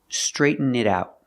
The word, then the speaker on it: straighten it out: Pronunciation, straighten it out. The T in it sounds like a fast D.